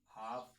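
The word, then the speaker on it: half: है तो उसमें आपका एल जो है वो साइलेंट होगा। ठीक है? जैसे एग्जांपल आ गया हमारा काफ हाफ।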